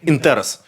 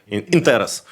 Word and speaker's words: інтерес: Він зміщує акценти і зміщує навіть наголоси на слова, щоб вмістити це слово. Інтерес. Інтерес.